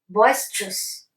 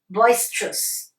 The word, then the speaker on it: boisterous: with an e but when you're going to pronounce it or to read it then you don't need to pronounce the letter e so you will just say I repeat repeat after me boisterous next nuisance nuisance and